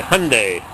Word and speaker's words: Hyundai: made in South Korea like my Hyundai rhymes with sunde four-wheel drive this one's